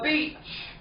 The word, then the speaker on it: beach: Now, make sure you pronounce E-A. E. No, E. No, this one. It's E. Okay? But each. Yeah. Beach. Each. Milk egg. No egg. B. Okay? Because if not, you will shock many foreigners if you don't pronounce this word right.